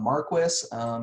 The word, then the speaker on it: Marquis: And this one comes from Don Marquis. Yeah, I know his last name here is spelled like the word marquee, but I've always heard it pronounced Marquis, so that's what I'm sticking with.